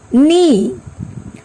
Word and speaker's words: knee: Knock, knee, not, knife, knowledge, no. In every word, K is silent here.